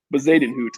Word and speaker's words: Bezuidenhout: Bezuidenhout is how you say his name.